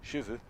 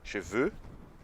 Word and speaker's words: cheveux: Então, cheveux, veux. Então, com essas associações do avô no cavalo e com cabelo que eu quero, você nunca mais vai errar a pronúncia, a diferenciação entre cabelos, cheveux, e cavalos, chevaux.